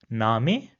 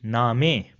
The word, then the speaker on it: Name: this in the word name. So you see we put extra emphasis on a at the end. So it will be name and not name as it is pronounced in English. Another example will be zofa.